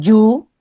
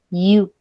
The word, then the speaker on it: you: Ok, es porque esta Y no la suena como una Y. O sea, no es explosiva como en nuestro español. Por eso es que yo odio cuando me dicen you, porque es que no, así no se dice. Se dice you.